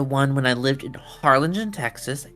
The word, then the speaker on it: Harlingen: lived in Harlingen Texas h a r l i n g n so you know you know how to say it I will never say it right because people have mistaken it for Arlington and Harlington is definitely